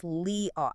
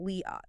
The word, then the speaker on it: Liat: It is pronounced Liat. It's one word with a long open vowel, Liat.